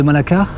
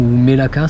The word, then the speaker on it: Malacca: La ville de Malacca, moi j'adore, ou Melaka, ça dépend comment on le prononce.